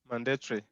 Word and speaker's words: mandatory: Mandatory. Mandatory. A-R-Y. Territory.